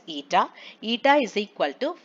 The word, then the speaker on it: eta: like this okay so it should be pronounced as ETA ETA is equal to